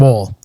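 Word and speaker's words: Woll: is uh Deborah and wool uh or wall depending on how you pronounce it but yeah I thought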